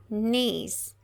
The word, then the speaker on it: knees: Palavras que começam com KN, em inglês o K não é pronunciado, ok? Então, por isso que a gente fala knees, a gente não pronuncia a letra K.